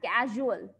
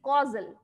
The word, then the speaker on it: causal: new term to you don't pronounce it as casual okay it is causal C Au U causality so how you